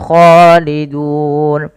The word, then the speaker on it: خالدون: Kemudian pada lafal dun mad arid disukun. Kita boleh memanjangkan 2 harokat, 4 harokat atau boleh 6 harokat.